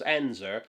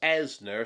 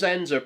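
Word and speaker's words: Ensor: We see a poster of the Belgian painter James Enzer, whom I've often mispronounced as Enner since the art school days.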